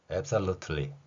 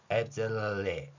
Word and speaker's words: absolutely: 따라서 한국인들은 이 단어를 거의 99%의 확률로 틀리로 발음합니다. absolutely 이렇게 발음하죠. 이제 트럼프의 발음을 한번 살펴보겠습니다. 트럼프 같은 경우에는 이 발음을 absolutely 이렇게 합니다. 결코 틀리 발음을 하지는 않습니다.